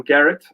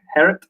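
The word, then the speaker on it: Gerrit: good dutch friend called we all call him garrett but i know it's actually herod i can't get thee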